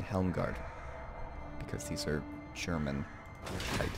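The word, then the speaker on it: Helmgart: be although I mean if we're pronouncing a proper rule properly it's probably pronounced Isle hard and helm guard because he's our Sherman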